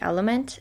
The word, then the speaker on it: LMNT: You can, use whatever brand you already have, or the ones that I recommend would be Element, LMNT, that's how it's spelled.